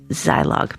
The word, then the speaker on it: Zilog: this one from Wikipedia the name pronounced the long eye is an acronym of